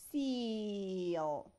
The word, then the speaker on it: seal: So this is seal. Seal. هل سمعنا الـ sound of A هنا؟ No. Just الـ A هنا خلت لي الـ E long E. So this is seal. S-E-A-L. Again, S-E-A-L. Seal. Seal. Okay?